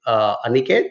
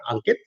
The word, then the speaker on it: Aniket: Hey, Navneet, thanks for choosing to work with us, and I think you are referring to my colleague Aniket and not Ankit, although the syllables are pretty similar in both the names.